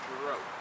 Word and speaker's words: Jirouch: And he said, well, that's a French name. So if you ever speak about Uncle Frank and you want to use his name Jirouch, I'm sure he'd be happy to hear that.